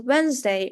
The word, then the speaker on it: Wednesday: sound combinations, for example, Wednesday or handsome. As you can tell while pronouncing those words, I'm not saying the D letter. D is silent.